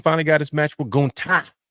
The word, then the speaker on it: Gunther: I'm like, bro, his name is Gunther. He's like the ring general Gunther.